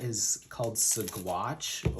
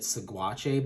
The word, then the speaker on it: Saguache: The area is called Saguache, or as I believe how it's pronounced. Originally we were calling it Saguache, but it's a small like municipality.